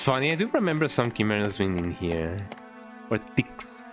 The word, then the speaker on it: Chimera: Chi, like hi.